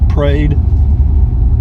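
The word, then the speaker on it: Prade: by the parade ranch it's spelled PRA de but they pronounce it prayed I think prayed ranch scenic drive beautiful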